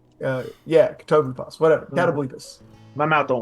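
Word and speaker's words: Catoblepas: I outran a Cobblepapablas in the forest one time. Now I'm going to say it wrong. Katoblepas is what I almost said. Yeah, Katoblepas.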